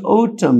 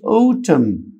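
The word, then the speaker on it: autumn: لغويه رقم انين بيقولي ان الام لو فولود باي ال ان هم مخرج صوتي واحد فبالتالي ال ان عندي هتبقى سايلنت ونطق الام بس مشهوره جدا في كلمه اوتم نفس كلمه اوتم الان سايل عمود برضو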